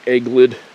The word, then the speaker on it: adelgid: They got this thing called a woolly egglid. It's actually spelled like Adelgid.